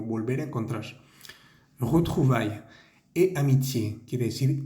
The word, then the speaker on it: amitié: Et amitié, quiere decir y amistad. Esa E al final tiene un acento agudo, la vamos a pronunciar muy bien.